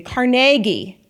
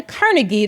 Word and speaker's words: Carnegie: at the and it's very important you pronounce it this way the Carnegie the car not the Carnegie the Carnegie Museum of Art Rachel is